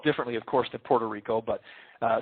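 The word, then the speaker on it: Odorico: It's uh pronounced Puerto Rico and it's O D O R I C O. Think of Puerto Rico. Take off the P. That's how it sounds.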